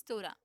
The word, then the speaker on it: Torah: Okay, the pronunciation is Torah.